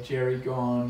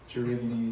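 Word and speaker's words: Gerygone: your first bird meeting people say jerry gone and jerry goney and all these weird things but gerrigan is the correct correct pronunciation um super pretty and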